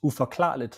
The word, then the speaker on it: Uforklarligt: The name of the podcast is Uforklarligt, so in English that translates into unexplainable. Uforklarligt.